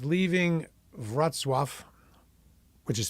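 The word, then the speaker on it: Wrocław: Poland this is the morning and it's leaving vatf which is spelled Rock laaw but it's called It's pronounced vatf like v r a t s swf and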